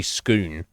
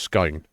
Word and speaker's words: scone: So the spelling, Heather, looks like it would be scoon, but it's actually pronounced scone.